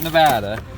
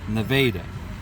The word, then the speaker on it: Nevada: gonna come into Nevada a local correcting me on my pronunciation it's not Nevada even though that would be grammatically correct that's Nevada and then we're gonna